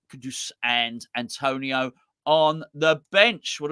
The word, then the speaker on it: Antonio: and Mel Antonio absolutely the right way you pronounce Antonio there so Lucas fabianski G waca too too